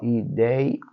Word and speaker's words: ideia: separar a sílaba, ó, ideia, anéis. A gente vai perceber que a penúltima sílaba, que é essa daqui, é a sílaba tônica, é a sílaba forte. Então, essa palavra é uma palavra paroxítona.